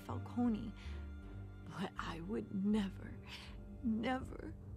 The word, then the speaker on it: Falcone: were druged Sergeant wait people are calling him Falone listen how it's actually pronounced talked big about hurting thugs like Falcone but I would never